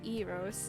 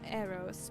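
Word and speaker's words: Eros: And for arrows, um, before that, I want to add that at some point I learned that the correct way to say the name is actually EOS, not arrows.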